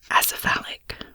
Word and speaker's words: acephalic: Acephalic, an adjective. 1, having no head, headless. 2, having no chief or leader. Acephalic with a stress, acephalic italic with a stress on the third syllable.